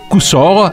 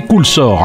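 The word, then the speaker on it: Cousolre: Montigny-le-Tilleul est jumelé avec le petit village de l'Avesnois Coussor, à ne pas prononcer Coulsor, un petit village sympa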